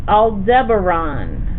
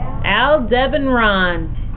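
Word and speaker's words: Aldebaran: a tricky long name it is Al Deon I'll spell it for you A L D E B B is in boy a r a n I'll spell it again all at once a l then your buddy Deb D EB and Ron a r a n Al Deon Al Deon not a winter one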